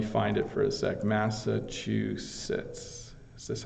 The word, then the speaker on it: Massachusetts: because there's local pronunciations of different things but Massachusetts is how I would pronounce it that's a great one gerver put